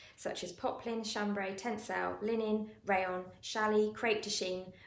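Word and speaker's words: ligne: So 1/2 inch buttons are 12mm buttons, which is a 20 line. And so line is the how we measure buttons. It's spelled L-I-G-N-E. It's a funny word. I think it's a French word actually.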